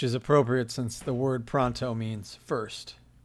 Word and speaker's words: Pronto: Today we are talking about not pronto but pronto if you ask me. That's how it should be pronounced because so much of this book takes place in Italy.